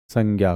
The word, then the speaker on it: संज्ञा: कुछ भी बोल लो संज्ञा बोल लो कुछ भी बोल लो मेन अपना पेपर पास होना चाहिए ठीक है लेकिन मैंने बता दिया कि भाई इसका जो उच्चारण है उसको हम संजा बोलते हैं ठीक अब जैसे हम